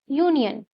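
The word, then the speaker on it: union: फिर क्या सोचोगे? साउंड के बारे में। क्या साउंड आ रहा है यहाँ भी? य, यू, तो यहाँ भी क्या लगेगा?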